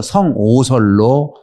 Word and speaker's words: 성오설: 근데 성악설은 사람은 본래 악한가 봐 그러는데 그렇게 해석하기보다는 성악이라고 하지 말고 성오설로 바꾸래요. 오라고 하는 것은 악을 한자 악이 있잖아요. 악을 악으로 발음할 수도 있고 오로 발음할 수도 있대요.